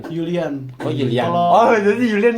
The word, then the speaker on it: Julian: Jerman kan J itu terus di Jerman J itu jadi Y Julian Yulian oh Yulian oh jadi Yulian nih bawa sama Laminama Laminamal.